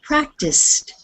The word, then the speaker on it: practiced: Now, this word is practiced. And you'll notice instead of the D sound on the end, it sounds more like a T.